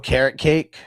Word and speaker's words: Okereke: I call him Okereke. Yeah. So I'm going to take Okereke. Yeah, I think it's really pronounced carrot cake.